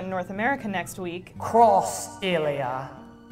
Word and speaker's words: Xillia: North America next week cross a Lea excuse me waist side cross area like the X is pronounced cross how else are you